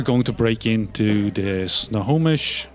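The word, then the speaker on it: Snohomish: so you are going to break into the snow homish snow homish is how it's pronounced snow homish into the snow homish Medical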